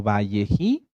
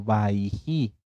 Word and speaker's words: Vayejí: que la encuentren ustedes en algunas Biblias hebreas en algunas tanaj como valleji o como baiji en ambas pronunciaciones están bien bji o baiji qué quiere decir y